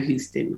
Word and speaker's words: Houston: the same way where houston tillotson is is houston like the city that's you see you're